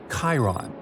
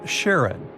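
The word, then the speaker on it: Charon: the most mysterious one Chiron also pronounced Sharon so you can pronounce it however you like I'm going to go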